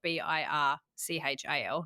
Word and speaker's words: Birchal: It's spelled Birchal, not like Bircher Muesli.